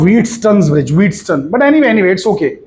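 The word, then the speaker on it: Wheatstone's bridge: मैं जिस खाली बता रहा हूं कि इसका राइट प्रोनाउंसिएशन है व्हीटस्टोन्स ब्रिज.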